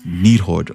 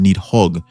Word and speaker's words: Nidhogg: Our next persona is Nidhogg, or sometimes pronounced Nidhogg. This is a really cool and amazing creature. If you're curious about what the correct pronunciation is, they're both correct. In-game they went with Nidhogg as far as the spelling, and this is closer to what it is in Old Norse, and Nidhogg is what is usually used today when referring to them.